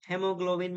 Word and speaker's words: hemoglobin: जैसे Caesar, Caesar में यहाँ पर A silent है, hemoglobin में A silent है.